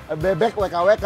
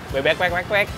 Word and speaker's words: Bebek WKWK: Aku pikir karena tulisannya adalah Bebek WKWK, bacanya Bebek WKWK, ternyata Bebek wek.